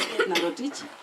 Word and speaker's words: Edinah Rotich: Yes, just pronounced Edinah Rotich.